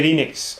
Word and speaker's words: Enix: everyone please yeah square enix have posted a loss of 33 million dollars how you pronounce it Enix yeah that's how I pronounce it yeah and everybody else can just be wrong I thought if pronounced